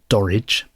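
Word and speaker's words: Dorridge: he was born in a place called dorage which which rhymes with porridge um if ever you're stuck for a for a rhyme for porridge you can use the the town of dorage and that's about 20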